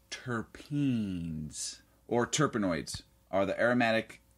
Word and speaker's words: terpene: into this right away tpin are pronounced turpen or terpenoids are the